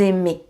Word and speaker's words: aimez: Vous, EZ, IZ. And you pronounce it E. Donc vous aimez, for example.